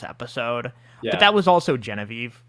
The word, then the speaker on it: Genevieve: Um for the first three episodes I literally pronounced Genevie's name wrong. I think it I think I pronounced it Genevi or something. Genevieve who's but like